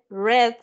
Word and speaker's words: read: el read leer en Red leyó o sea ese leer en pasado se pronuncia como el color y usted me va